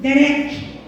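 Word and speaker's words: דֶּרֶךְ: Essa palavra caminho no hebraico se pronuncia assim: derek.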